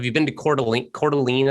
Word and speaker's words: Coeur d'Alene: been to coeur d'alene coeur d'alene i think is how you say it in idaho she she grew up